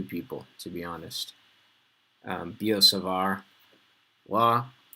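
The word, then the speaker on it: Biot–Savart: it ends with t's both both words end with t but you say it like there was no t b o savar okay don't sound like a bozo and say buyout save art or something like that um or as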